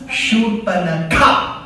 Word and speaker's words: Shurpanakha: Shurpanakha.